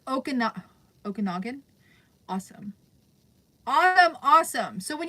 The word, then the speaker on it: Okanagan: Okanagan Valley, kind of how it's pronounced. Not sure if you did that pronunciation. Okanagan.